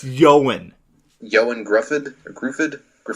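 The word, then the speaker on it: Ioan: name his name is I don't know how to pronounce that first name it's i/o a n like I am i OE n io a n io and I even heard o goin it's yawen yo and Griffen Griffen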